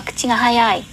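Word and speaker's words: 口が速い: Mà cô đọc nhanh thì chúng ta sẽ đọc là kuchi ga hayai.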